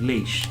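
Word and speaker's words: Laoise: there's a place not far from me called leash and it's l-a-o-i-s-e um and then there's port leash as well which is like a little town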